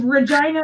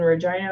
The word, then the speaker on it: Regina: back me up here is Regina known as the city that rhymes with fun it's awesome marketing I'm